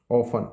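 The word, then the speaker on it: often: हमेशा नेवर कभी नहीं ऑफन अक्सर इसमें टी साइलेंट है ऑफन पढ़ते से स्कार्सली वेरी रे स्कार्सली हार्डली रे ये तीनों एक जैसे होते हैं।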